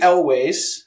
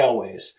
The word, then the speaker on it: Elwes: All right, next up we have Cary Elwes, or Elwes, or however you say his fucking name.